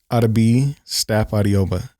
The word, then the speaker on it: Yemi Stapp-Adeogba: Today's guest for the second time, Yemi Stapp-Adeogba. Damn it, hard on the D, huh? Did I get it right? No, that sounded good. Give it to me one more time. Yemi Stapp-Adeogba.